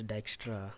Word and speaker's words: Dijkstra: today's topic called as Dijkstra algorithm it is pronounced as Dijkstra because the extra is a Dutch word formed